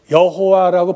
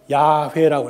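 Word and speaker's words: Yahweh: 그래서 이게 여호와라고 보통 발음인데 이거를 나중에 학자들이 보니까 야훼라고 했습니다.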